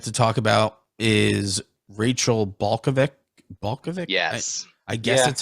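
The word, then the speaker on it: Balkovec: coach that i don't know how to uh pronounce their name it's balkavic and uh she was promoted to the tampa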